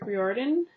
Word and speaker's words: Riordan: copy of the son of neptune by rick riordan that's how you say his name i always